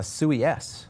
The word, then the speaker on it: Sui: about, and that is SUIS. Is that what you're calling it, or is it Suisse? Well, technically it's SUI, is how you say it, but yes, that is the tick.